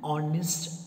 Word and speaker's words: honest: For example, an honest man. An honorable man. Honest, H-O-N-E-S-T, but H is silent. The sound that you hear is O.